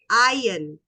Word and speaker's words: iron: Okay, it's called iron. You don't say the R, you just say it like I-O-N. Iron.